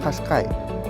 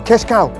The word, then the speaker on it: Qashqai: the models are exactly the same like a Qashqai or Qashqai, the model name. Most of you guys, you couldn't pronounce the name of the Nissan Qashqai, and